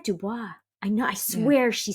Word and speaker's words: DuBois: um all right Dubois I said it wrong sorry it's Blanche Dubois I said Dubrow and she said Dubois I know I swear